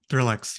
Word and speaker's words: ThrillX: So with your company, ThrillX, and I'm pronouncing that correctly, right? ThrillX? Yep, ThrillX.